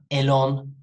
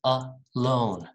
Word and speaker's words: alone: together together all right alone around not elon it's a loan a round again a go about